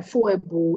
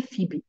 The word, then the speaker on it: Phoebe: thing you just said, there's nothing like Foebo. It's actually Phoebe. I'm like, eh? Okay, it's because I see PHO.